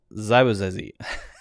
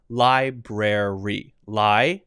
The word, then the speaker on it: library: So this one has to have this R. Library. Brer, and then the brer. It's sort of like, I guess that'd be an I there, but brer, brer, and then the E like that. That would be the correct natural sounding pronunciation of that word that I wasn't going